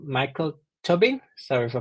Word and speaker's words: Tobin: podcast, we have a special guest called Michael Tubbing. Sorry if I pronounce it wrong. Can you start by introducing yourself please? Yeah. Hi everyone. My name is Michael Tobin.